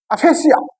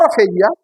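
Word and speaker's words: aphasia: इसके बाद एक है अफेसिया, अफेसिया और अफेजिया both are same thing.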